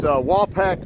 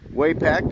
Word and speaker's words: Wapack: longer in use this wall pack trail which is corrected on the pronunciation it's not waypack but wall pack trail and wall pack